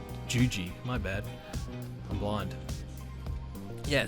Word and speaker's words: Juji: Fuji Gatame? That's his finisher. Did I say Fuji? I mean Juji.